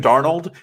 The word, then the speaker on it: Darnold: Sam Darno, I have never understood. It's French.